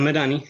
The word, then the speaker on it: Medhanie: And I'm Medhanie.